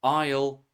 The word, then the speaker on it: isle: Silent s appears in words island, isle, debris, and so on. Often from French spelling traditions.